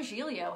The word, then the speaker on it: Giglio: But he spells his last name G-I-G-L-I-O, like Giglio.